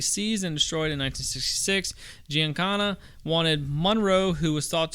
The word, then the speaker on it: Giancana: I guarantee it's Italian. Giancana. Yeah, Giancana.